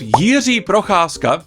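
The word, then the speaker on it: Jiří Procházka: have another Banger on the main card dude Yi prasa that's how you pronounce his name against Jamal Hill I don't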